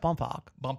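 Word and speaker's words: Bohmfalk: h m f a l k bounc it's pronounced bump bump yeah I love that so yeah Egypt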